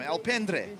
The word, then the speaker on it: Alpendre: Alpendre. There you go. Got it the first time around. My pronunciations are getting better from the start.